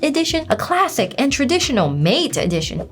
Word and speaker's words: MATE: And XFCE and Mate, it's pronounced mate.